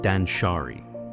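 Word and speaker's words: danshari: It's called Dansari. Three syllables, one philosophy. A way of living that can gently untangle the knots we've tied around ourselves physically, emotionally, and spiritually. The word dansshari is made up of three simple ideas.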